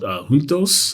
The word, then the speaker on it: Juntos: So there was this yogurt brand called Juntos. I believe, I don't speak Portuguese, but I think that that's how it's pronounced.